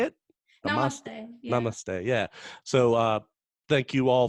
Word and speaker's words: namaste: over okay and one alright yeah and the mama stay is that how you say it namaste yeah so thank you all for tuning in